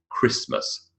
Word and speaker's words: Christmas: make these sounds, and why don't I pronounce the T in Christmas?